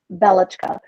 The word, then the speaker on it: Belichka: It's pronounced Belichka, which in Russian is a nice, kind, soft way to say Bella.